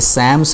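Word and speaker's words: Psalms: ये सैम्स है, P silent है.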